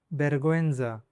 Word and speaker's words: vergüenza: For example, vergüenza. Vergüenza means "embarrassment" or "shame." Here, the ü is pronounced.